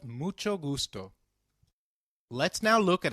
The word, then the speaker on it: mucho: notice the pronunciation of mucho we earlier learned that H is always silent in Spanish however when combined with C it is pronounced as Che as in church so can you try